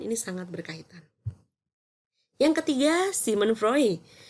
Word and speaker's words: Sigmund Freud: sangat berkaitan yang ketiga Simon frey khusnya Sigmund Freud ya bacanya Simon frey Simon frey ia menyinggung